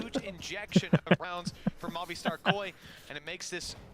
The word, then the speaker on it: Movistar: Movistar. Not movie star.